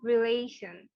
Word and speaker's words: relation: তো এটার উচ্চারণটা হবে রিলেশন, just like the way Sunny shed. Okay, রিলেশন, রিলেশন হবে না, রিলেশন হবে না, রিলেশন। এ, টি, আই, ও, এন, এই অংশটাকে একটু জোর দিতে হবে আমাদের।